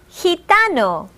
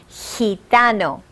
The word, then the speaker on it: gitano: The rule of the G is, if it is next to the letters E or I, it will have a soft sound, as in gitano.